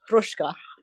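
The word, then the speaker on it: Hruska: he called Roman Ruska who was a good old Bohawk. Democratic Bohawk. Yes. His name is spelled H R U SK A but it's pronounced Rushka.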